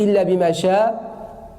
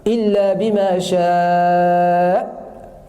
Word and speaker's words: إلا بما شاء: Beaucoup se trompent et disent إلا بما شاء. Là, il faut prononcer le hamza à la fin. إلا بما شاء. Et il ne faut pas lâcher l'air par la suite.